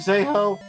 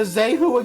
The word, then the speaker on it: Zeho: Yo, I'm Zeho. That is how you pronounce it. I swear to God, somebody gives me a Zehu again, and I'm going to say that's not.